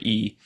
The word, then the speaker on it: yi: that's intention so it's often translated as e pronounced e but it's written as y i transliterated and